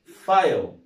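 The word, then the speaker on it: file: لكن دي احنا قلنا اف اي ال اي يبقى اسمها ايه؟ فايل، يبقى اسمها ايه؟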